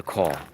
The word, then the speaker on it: caul: show yesterday that i was born in the call and that's spelled c-a-u-l and with the umbilical cord wrapped